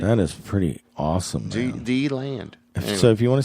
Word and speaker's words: DeLand: D-Land.